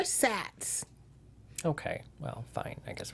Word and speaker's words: SATs: still knew what the SATs were yeah I didn't pronounce it sat hey they are SATs okay well fine I